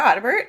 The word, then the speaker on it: Audibert: sure uh yeah so my name is ottebert uh you pronounced it exactly correct um i am of